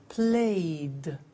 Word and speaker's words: played: So, the pronunciation of ed becomes D. It becomes played.